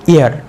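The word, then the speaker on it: heir: আমরা কি বলবো অনেস্ট তাহলে অ এর মত উচ্চারণ হলো তাহলে আমরা কি বলবো এর আগে এন তারপরেরটা কি এইচ ই আই আর হেয়ার বলবো তোমাদের কি মনে হয় এইচ ই আই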